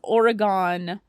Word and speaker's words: Oregon: showing her the slides and he's Mulder also pronounces Oregon uh Oregon not Oregon and a lot of